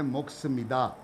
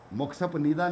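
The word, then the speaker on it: 먹습니다: तो इसको कहते हैं मुक्स मिदा, मुक्सप निदा नहीं कहते, रॉन्ग प्रोनाउंसिएशन है, मुक्स मिदा।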